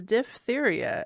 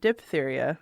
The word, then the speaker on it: diphtheria: That is diphtheria, as we learned, not diphtheria, like most people. Like I was taught. Like I was taught as a child. And we learned that from Astonishing Legends, so thank you very much, boys, for teaching us the correct way to say diphtheria.